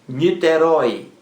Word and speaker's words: Niterói: continua na letra e niterói niterói roi é a palavra oxítona a sílaba mais forte é a última rói rói o acento